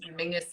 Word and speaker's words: Menzies: That for anybody else, Mingus is how weirdly the Scottish people that's how they would pronounce Menzies. I don't understand where the G Yeah, comes out of it, but that's it is a little weird.